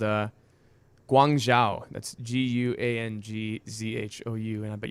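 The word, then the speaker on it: Guangzhou: would totally check them out it's called uh guangzhao that's g-u-a-n-g-z-h-o-u and i bet you my pronunciation is spot-on but sounds like chinese puzzle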